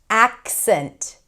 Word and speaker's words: accent: accent accent so that k is kind of held and then you shift into the s ac- the s sound, right? It's spelled with a c but it's a s sound. ac- cent You want to connect them, not ac-cent. Don't add a vowel.